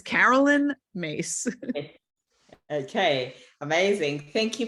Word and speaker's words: Caroline: Internet and her name her name is spelled differently than it's pronounced um her name is yeah it's Carol her name is Carolyn but it's spelled Caroline